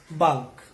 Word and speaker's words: bulk: But when it comes to the last one, letter L has a mild pronunciation, that is bulk.